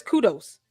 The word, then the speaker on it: kudos: The word is kudos. Kudos. Kudos. You got to break it down. It's two syllables.